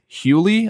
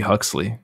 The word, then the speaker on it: Huxley: english biologist in 1869 his name was thomas hewley i believe that's how it's pronounced it's h-u-x-l-e-y that's hewley right i mean it could be huxley huxley it could be huxley yeah it's probably huxley um what he did